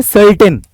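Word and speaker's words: certain: यू का फर्क है यहां पे इसको हम कर्टेन पढ़ते हैं जो पर्दा होता है ना पर्दा वो और ये है सर्टेन निश्चित अब इस दोनों में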